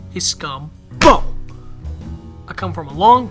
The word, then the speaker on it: Scumbo: It's pronounced Scumbo. General? A word? This is such a waste of time. I have a perfectly good hacksaw at home. That'll make the scum talk. It's Scumbo, sir, and hacksaws were outlawed by the Geneva Convention.